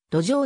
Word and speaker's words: どぜう: ようになったなお字面はどぜうであっても発音はあくまでも土壌であるありがとうございます